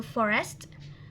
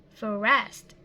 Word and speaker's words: forest: next we have a forest forest is a two syllables word that we pronounce Forest not for rest but for us directly for rest for the next we